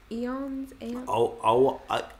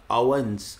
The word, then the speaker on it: aeons: Apparently it's pronounced Eons.